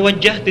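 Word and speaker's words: وجّهت: Anda mesti bedakan. Ada inni wajahtu, ada wajjahtu. Itu berbeda ya.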